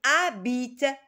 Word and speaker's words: habitent: les gens, qui habitent, c'est pas qui habitent, qui habitent, c'est un H muet, on ne le prononce pas, qui habitent en dehors de la ville.